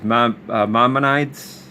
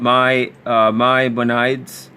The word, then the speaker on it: Maimonides: about these Noahide laws, like I think it's Maimonides. I can never pronounce that name right, but he's a Jewish rabbi writer.